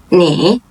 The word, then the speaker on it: 你: 你 The third tone, you.